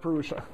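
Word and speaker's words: पुरुष: a being named perua actually it should be it's just an S with a DOT under it so that the Sanskrit is among you do not get offended but it's pronounced peria uh a thousand heads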